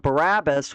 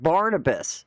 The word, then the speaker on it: Barnabas: now I was saying I said the gospels of barabus which that's not it it's the it's the gospels of Barnabas so I was wrong on pronouncing the name and what a goofball